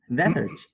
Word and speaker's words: lethargic: 重音往后移一下。 lethargy。 lethargic。